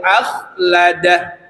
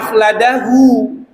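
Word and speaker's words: أخلده: Tapi kalau dia diwaqaf wa 'addadah, itu harus mati. Yahsabu annama lahu akhladah. Tidak boleh dibaca akhladahu.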